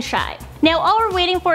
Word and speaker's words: Chi: Kim has even broken down the name into a nickname she tweeted- North Saint and chi // pronounced shy.